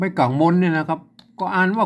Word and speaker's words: ก็: นะ ครับ อ่า ก็ ก็ อ่าน มา ก่อน นะ ครับ แต่ บริบท การ เขียน คำ นี้ ใน ข้าว ใน การ ลง แม่ ยัง สบาย นะ เป็น วรรณกรรม เปิ้ล ออก เสียง เป็น ก้อ นะ ครับ ก็ แปลก ดี